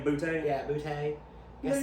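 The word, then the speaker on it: Boutte: Yeah, Butte. You Look say it at like Butte. a Cajun. You gotta say it like a Cajun.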